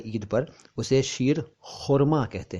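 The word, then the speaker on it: शीर ख़ुरमा: है ईद पर, उसे शीर खुरमा कहते हैं। खुरमा, कौरमा नहीं, शीर कौरमा नहीं, सीर कौरमा नहीं, बल्कि सही शब्द है शीर और खुरमा, तो बना शीर खुरमा, शीर खुरमा।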